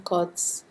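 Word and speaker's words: قدس: Depending on the Arabic you speak, Qaf in Quds is either pronounced or silent.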